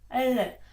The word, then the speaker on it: l: зверни собі увагу що польська літера ль Вона не відповідає українському л перше що ти повинен запам'ятати це що вона завжди м'яка ль Але не така як м'яке українське ль правда Чуєш різницю ль і ль для того аби навчитися правильно вимовляти треба правильно поставити язик кінчик язика повинен торкатися верхнього піднебіння і спробую вимовляти при цьому букву Л ль л л це правильний звук неправильно буде ль І наприклад маємо два